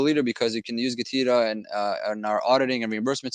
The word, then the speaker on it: GETIDA: What's GETIDA? Is it GETIDA? Is it GETIDA? How do you say it? It doesn't really matter. It's just an acronym. It's GetIDA, which means Get Intelligent Data Analytics.